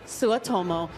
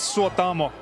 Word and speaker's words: Suotamo: Ladies and gentlemen, Jonas Suotomo. Hi, how are you this evening? I'm very good. It's pronounced Jonas Suotamo.